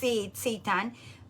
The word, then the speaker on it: seitan: It's pronounced seitan.